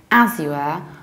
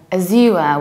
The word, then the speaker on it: Azure: say Asia Asia but in the British accents you might also come across something like a sewer or Azur with a stress on